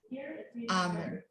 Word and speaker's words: almond: also Australia is that in America, the L should be pronounced, is not silent, but in Britain and Australia, the L is silent. They say balm, almond.